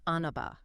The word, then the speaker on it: Anava: That's pronounced Anaba.